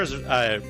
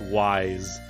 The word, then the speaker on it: Ys: to it as Y''S, which I'm pretty sure would be pronounced wise. But I'll pronounce it as Is for this, because that's how it's written on the actual CD cover.